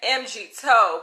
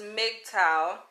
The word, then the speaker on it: MGTOW: to pronounce it so i was saying mg toe but it's not mgtow it's mgtow it's an acronym that